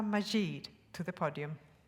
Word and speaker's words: Majid: is silent aspha and the i in her last name is e Majid it is a great pleasure to Welcome asva majeed to the podium